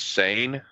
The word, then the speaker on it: Seine: How is it pronounced? I do believe it's sane. Sane.